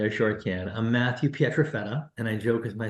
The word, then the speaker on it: Pietrafetta: I'm Matthew Petrafetta, and I joke with my students that if you can pronounce my last name correctly, you'll score 100